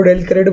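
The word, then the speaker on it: del credere: डेल क्रेडिट commission, इसको डेल क्रेडिट pronounce किया जाता है।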